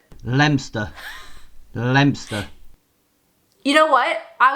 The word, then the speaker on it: Leominster: We're pretending the O doesn't exist. Leominster. Lemster.